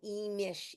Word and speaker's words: Imix: And it is called Imish, but you pronounce it Imix, and then Imish is how you actually say it.